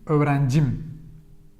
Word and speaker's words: öğrencim: So the possessive suffixes take the stress upon themselves.